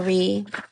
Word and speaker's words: Ra: In the Egyptian Book of Gates, Ra is pronounced Ra or Re.